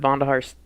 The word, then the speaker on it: Vonderhaar: I read one of David Vonderhaar's tweets, if I'm pronouncing his name right, I hope.